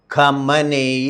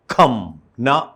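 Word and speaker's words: خامنه‌ای: വയസ്സുള്ള ഈ ആയത്തുള്ളയുടെ പേര് കമന എന്നാണ് മലയാള നമുക്ക് പറയാവുന്ന അലി കമന ഏഷ്യൻ ഭാഷയിൽ ശരിയായ ഉച്ചാരണം എന്ന് പറഞ്ഞാൽ കംന കംന എന്നുള്ളതാണ് പേര് അപ്പോ എല്ലാ പേരും കമേനി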